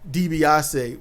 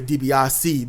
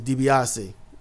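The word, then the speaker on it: DiBiase: Um, and if you want to know, yeah, Debbasi was the original pronunciation. I don't know when it turned to Dbiasi, but it was Dbasi.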